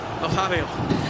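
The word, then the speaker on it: Nazário: I've been practicing the R9 pronunciation. So, how is it again? Nazario.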